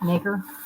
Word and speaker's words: nacre: Knocker. Randy Hayes says knacker. I think it's spelled Nacre, like acre. All right, Nacre. I say it like that because it looks like acre.